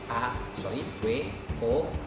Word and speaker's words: women: Tapi kalau wanita dewasanya lebih dari 1, A-nya berubah jadi E, W-O-M-E-N, dibacanya women, woman, women, woman, women.